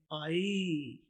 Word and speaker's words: eye: आई। उर्दू में देखिए आई। इसमें दूसरी आवाज कोई नहीं है। आपने EYE स्पेलिंग याद रखने हैं, लेकिन आवाज इसकी आई है।